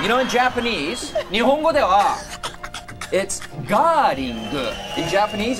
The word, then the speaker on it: Gerling: You know, in Japanese, 日本語では。It's Gerling. In Japanese, it's Gerling. How do you pronounce the band name?